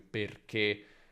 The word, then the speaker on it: perché: E quando vedi E con l'accento acuto alla fine di una parola, per esempio perché, poiché, affinché, la pronuncia è chiusa.